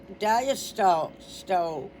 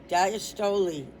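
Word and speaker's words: diastole: And then they they say pronounced and they go d i hyphen as hyphen tow like a tow truck and Lee. So they're saying it. It's the dastol is pronounced diastoly. Diastoli you have to look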